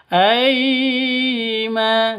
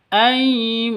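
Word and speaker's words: أيمانهم: sifat lin lentur lemas tidak boleh disentak tidak boleh dipanjangkan aima salah ama juga sa salah Salah yang betul. Aimanim begitu sifat-sifat lin panjang dua ketugan karena ada alif diawali dengan fat fathah.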